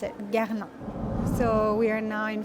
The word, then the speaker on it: Guerlain: And the pronunciation is Guerlain. Guerlain. Maybe a bit tricky as well with the R, but yeah, this is how you pronounce it, Guerlain.